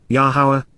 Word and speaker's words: Yahowah: father responded Amar said both questioning and asking yahwah yahwah the proper pronunciation of the name of yahwah our eloah